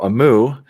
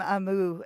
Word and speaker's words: Aamu: And so Amu is it's spelled AAMU, and it's Finnish, and it means the morning time, like dawn, Oh, the time of day, morning time.